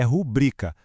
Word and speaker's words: rubrica: Um erro muito, mas muito comum é falar rúbrica, só que o certo pela norma culta é rubrica.